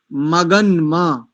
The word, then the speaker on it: मगन्म: नकार आधा है और मकार पूरा है, तो उल्टा कर रहे हैं। मग्नम नहीं बोलेंगे, मगन्म, सूर्य मगन्म, ज्योति रुत्तमम।